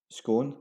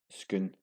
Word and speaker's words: Scone: This Perthshire town is often pronounced as Scone, as in cone, or Scone, as in lawn. It should be pronounced as Scone, like spoon.